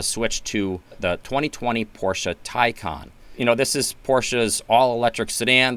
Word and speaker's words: Taycan: the first thing is most people don't know how to pronounce the name, and it's Taycan. This name, I think, was leaving so many people confused. Porsche actually put out a video that where the announcer said several times, Taycan.